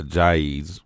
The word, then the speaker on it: Ajayi: So Ajayi's, right? That's how you say his name. Ajayi. Ajayi.